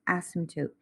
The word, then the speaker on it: asymptote: so an asymptote is that p is silent just asymptote is is like a